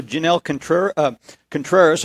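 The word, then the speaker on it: Janel Contreras: Okay, and also Jenelles Contreras, I'm pronouncing that correctly, yes, from Merrillville, is joining us.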